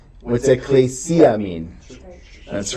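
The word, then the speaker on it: ἐκκλησία: Ecclesia. Ecclesia. Everybody say ecclesia. Ecclesia. Notice the double consonant, the double kappa. They're both pronounced, so it's not ecclesia. It's ecclesia. Ecclesia.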